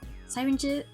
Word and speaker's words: syringe: Syringes. Wait, how do you say it? Syringe. Not siren. Syringe.